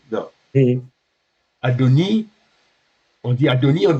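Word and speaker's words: אדוני: Adoni. Enfin, et Yod. On a dit que le yod ne se prononce pas. Donc Adoni. Adoni. Parce qu'il n'y a rien en dessous.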